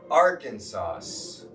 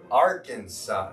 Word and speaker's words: Arkansas: she knows she knows are kansas but don't spell it like r kansas r-a-r kansas arkansas now say it with me guys arkansas arkansas karkansas our kansas are kansas okay say it